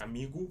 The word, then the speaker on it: amigo: And remember, if it's not a you would say just amigu.